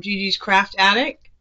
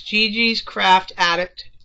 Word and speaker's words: Gigi's Craft Addict: And, you know, everybody's been telling me I've been getting her name wrong. And I'm not really... Yes, it's Gigi's Craft Addict and Haul.